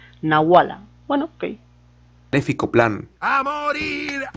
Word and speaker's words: nahuala: la nahuala o sea lo está pronunciando como h normal o sea no como si fuera una jota no como una pronunciación de la jota nahuala que te fico plan